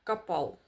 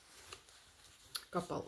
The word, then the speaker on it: Kappahl: Капал. Капал. Ось так читається.